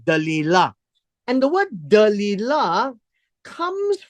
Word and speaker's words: Delilah: And her name was, well, in English, it's called Delilah. But in the Hebrew pronunciation is Dalilah, which is very close, right? Dalilah.